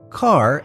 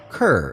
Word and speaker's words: Kerr: name was pronounced as car and not kerr and that's when mgm built her ass car rhymes with star it was around this